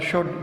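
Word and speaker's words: should: वुड जो है, और शुड दोनों हेल्पिंग वर्ब्स हैं। इसमें एल जो है ये आपका साइलेंट है।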